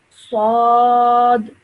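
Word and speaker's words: ص: Okay, so this is another thick sounding letter, so we should pronounce it with thick and heavy sound. Sad, Sword.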